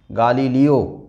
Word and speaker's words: গালিলিও: আমরা গালিলিও এই নাম শুনে অভ্যস্ত নই, কিন্তু এই প্রবন্ধের নাম, এই রচনার নাম গালিলিও, তাই আমাদের লেখার সময় গালিলিও এই শিরোনামটাই লিখতে হবে, বলার সময় উচ্চারণ করতে হবে গালিলিও।